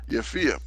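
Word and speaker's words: Japhia: Yafia, verse 8, and Elishama, and El Ileada.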